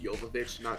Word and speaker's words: Jovovich: doesn't it says like she's a russian so it's pronounced yokovich yeah yeah and also